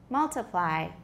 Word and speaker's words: multiply: Or if it's not a secondary stress, does it sound like we have a stressed syllable, an unstressed syllable, and then another syllable that's not quite unstressed? 它其实不至于 unstressed那么轻，有没有? Which syllable is it? Ply.